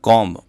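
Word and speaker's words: comb: तो देखिए यहाँ पर हम देखें तो बी यहाँ पर एक साइलेंट वर्ड की भूमिका में होता है कॉम्ब, तो ये ऑप्शन बी डी जो होगा जिसमें दे रखा है यहाँ पर बी, तो ये इसमें नहीं बोला जाता है कॉम, तो इस प्रकार से बोलते हैं इसको।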